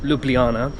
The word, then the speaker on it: Ljubljana: bit about Luana spelled Lu Luana but it's pronounced lublana it is obviously the capital of Slovenia um